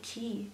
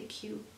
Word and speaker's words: queue: I'm in the queue in the key how do you say that some people say key but I would say cue to enter this you